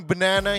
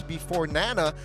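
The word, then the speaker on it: BeforeNana: But yeah, I mean, Banana here or here, it's before Nana, but RRQ. Or Nana. It's you know what? Casters, say his name right. Don't say banana.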